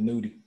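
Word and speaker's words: Nudy: How you say it, Nutty or Nudie? I think it's Nudie.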